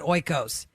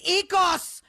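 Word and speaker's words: Oikos: o i Kos and everyone calls it oos that is not how you say it John stamus it's EOS and I feel your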